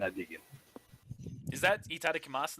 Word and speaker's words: itadakimasu: I say itadakimasu. Oh, In my head. I'm sorry. Take it. Hajime. You got an admirer. Itadakimasu. And I dig it. Is that itadakimasu, not itadakimasu? The U isn't pronounced.